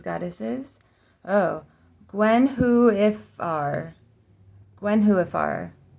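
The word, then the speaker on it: Gwenhwyfar: oh Gwen who if Gwen whoar Gwen whoar Gwen who emphasis on the who IFR Gwen who if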